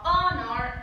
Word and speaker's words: honor: O sea, son muy pocos los casos en los cuales la H va a ser muda. Y algunos de esos casos son, por ejemplo, honor or our.